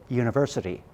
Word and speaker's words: university: So we will say a university. Okay, the spelling is with a U at the beginning, but the pronunciation is a Y sound.